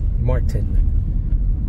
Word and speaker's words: Martin: Martin. I did a hard pronunciation on the T. Martin. In acting class, they always tell you to pronounce the hard T as opposed to saying Martin.